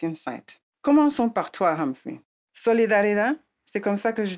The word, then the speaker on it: Solidaridad: Le mot solidarida est un nom espagnol qui signifie solidarité parce que notre travail a débuté en Amérique latine d'ù la prononciation espagnole.